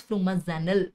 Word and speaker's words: flumazenil: is the antidote of course the antidote is flumazenil so all the drugs are FFF FF don't